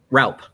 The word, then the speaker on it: Raupp: how do you say your last name roughly Ralph Ralph Ralph k bill rep rep from go